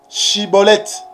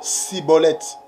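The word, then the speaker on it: Shibboleth: La prononciation. Chibolette. Maintenant, Sibolette.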